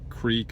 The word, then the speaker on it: creek: we'd build dams there's a creek or correct depending on how you want to pronounce it or a stream if